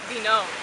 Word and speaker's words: Venom: And my name's Vinome, but it's spelled Venom. You can pronounce it Vinome.